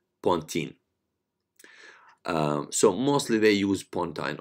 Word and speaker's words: pontine: It's called pontine flexure. You can say pontine, and some people like pronounce it pontine.